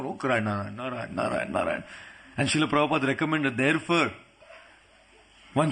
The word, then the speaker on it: Narayana: Narayan! As soon as he said Narayan, 4 Vishnudutas came, because Narayan has 4 syllables, Narayana.